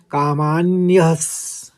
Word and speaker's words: कामान्यः: कामान्यस, कामान्यस सीधे आप पढ़ लेंगे आघात लेते हुए।